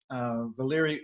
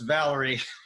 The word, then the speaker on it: Valery: way, and they said, no, no, it's Valery. No, Valery. Actually, in Russian, it's Valery.